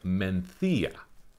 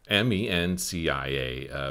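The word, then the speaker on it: Mencía: the wine that i'm talking about is called menthia now the way it's spelt m-e-n-c-i-a makes you think it should be called mencia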